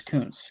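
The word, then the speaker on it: Koonce: you pronounce it though it's Coons because if it were that'd be bad so with a z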